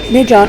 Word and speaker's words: Midian: Now I suggest making a note of that Midian, M-I-D-Y-A-N, and in the King James it's pronounced Midian, M-I-D-I-A-N, that they are Midianites in the land of Midian, come from the son of Keturah, Midian.